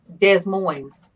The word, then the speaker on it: Des Moines: at the conferencing center not every S is pronounced yeah I Des Moines Des Moines yeah I got told that one